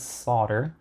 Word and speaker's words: solder: And I'm going to start by just flowing in some leaded solder. Pronounce that O and L. Somewhere on my desk I had some solder.